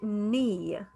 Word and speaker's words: knee: i have the word knee the k is silent knee this is the